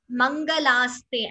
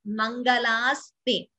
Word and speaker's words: मङ्गलास्ते: It is Mangalaste as it is written itself. Mangalaste. This La is a Dirgha. Mangalaste is how we pronounce it.